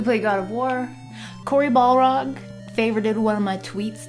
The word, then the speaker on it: Balrog: Corey Balrog favorited one of my tweets today, so I'm famous.